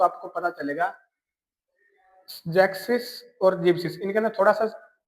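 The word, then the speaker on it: sechzig: 60 को बोलते हैं हम जैक्सिस। यहां पर भी एस नहीं लगाना जैक्स का ओनली सीधा जैक्सिस।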